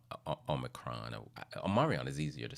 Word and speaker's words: Omicron: Yes, I know it's pronounced Omicron.